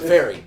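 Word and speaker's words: Faire: Fair is spelled oddly. It's a ferry.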